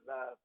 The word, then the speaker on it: love: So the only thing that's missing is in the word love is the letter U.